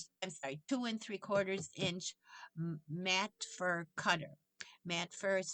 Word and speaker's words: Matfer: with a large round 2 and 3/4 inch mat fur cutter. Mat fur is spelled Matfer.